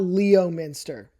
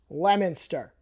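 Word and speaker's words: Leominster: It's not Leo Minster. If I were a kid looking at a map, I would say Leo Minster, but no, it's Lemonster.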